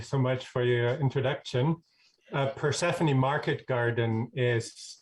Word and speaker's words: Persephone: Persephone Market Garden is how we pronounce our farm.